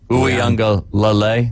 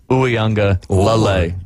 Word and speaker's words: Uiagalelei: He was backing up DJ Uiagalelei, and I know I didn't say it right. There's another syllable you got to throw in there. Lele. Uiagalelei. Yep. You almost have to pause. Huh. Uiagalelei.